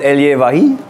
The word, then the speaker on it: Elie Wahi: Und Elie Wahi. Ja. Auch so ausgesprochen.